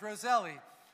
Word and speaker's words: Roselle: roselle park new jersey my last name is roselli and people say well why don't you spell it with an i because that's what it sounds like roselli with an eye and i said well